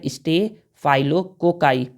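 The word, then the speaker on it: staphylococci: होता है तो देखिए इसका नाम होता है stay फाइलो cocci stay फाइलो cocci stay फाइलो cocci stay फाइलो cocci क्या है एक बैक्टीरिया है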